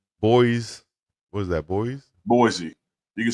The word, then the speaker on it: Boise: what is that boy Boise you can say Yeah Boy Idaho that's supposed to be Boise Idaho yeah that's how you